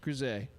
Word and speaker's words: Griz: I did go talk to the Grizzes, and it is pronounced Grise.